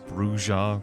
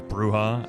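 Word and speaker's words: Brujah: from viewer comments uh bringing up bruja versus bruha I I noted explicitly uh throughout the series thus far that I would be going with the in-game pronunciations uh contrary to uh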